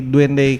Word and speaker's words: Duende: kenapa sih namanya jadi Duende Cafe gitu kan. Awalnya itu tuh dari kata Spanish, tulisannya tuh Duende, Duende. Cuman pronunciation-nya Duende.